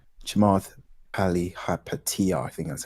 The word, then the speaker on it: Chamath Palihapitiya: Chamath Palihapitiya, I think that's how you pronounce his name.